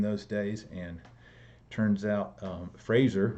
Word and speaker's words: Fraser: Dom's was the preeminent sculptor in those days and turns out Fraser rhymes with laser Fraser was his best